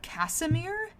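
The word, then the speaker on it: Casimir: And like uh also on this list for my honorable mentions is Ca Casemir. I have never heard of that name in my life. It's spelled C A S I M I R.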